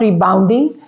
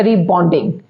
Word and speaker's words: rebonding: और एक कन्फ्यूजन जो स्पेलिंग्स की भी दूर करें, इट्स नॉट रीबाउंडिंग, इट्स अ रीबॉन्डिंग।